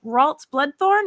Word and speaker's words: Ralts Bloodthorne: we're not we're here to talk with uh waltz bloodthorn am i pronouncing that correctly yeah yeah you're excellent you're